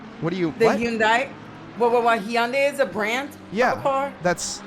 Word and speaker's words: Hyundai: I'm intentionally butchering them no it's I I pronounce them Hyundai that's that's how you it's it's a Korean car it's Hyundai but yeah that's how